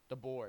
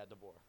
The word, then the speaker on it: DeBoer: I feel like the Alabama head coach, I don't want to say his name wrong. What is it? DeBoer. Yeah, DeBoer.